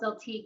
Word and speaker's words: Zeltiq: You ended up, it's Zeltique? Did I pronounce that right? Yeah. Okay. It's called Zeltique.